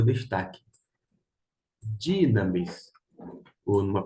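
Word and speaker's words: δύναμις: Dinamis, ou numa pronúncia mais acertada, porque aqui no Rio de Janeiro a gente fala mas a pronúncia seria dinamis.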